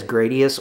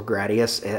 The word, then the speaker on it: Gradius: That is Gradius or Gradius, however you want to pronounce it. I pronounce it Gradius.